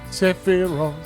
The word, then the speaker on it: Sephiroth: Sephiroth. I keep pronouncing the P accidentally.